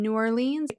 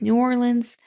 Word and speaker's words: New Orleans: Typically I think does New York reviews, but for whatever reason she was in New Orleans. So yeah, it's me post um filming. I know I said it wrong. It's New Orleans, but just bear with me.